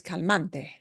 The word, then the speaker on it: cante: let's look at Cante Cante ends in a vowel and we punch this a sound a little bit harder that's where the natural